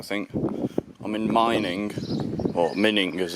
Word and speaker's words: Mining: 40 miles I think I'm in mining or mining as it's pronounced in German just there I'm going